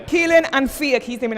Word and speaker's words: Kealan: That's pronounced Kealan and Fiach, he's the main actor.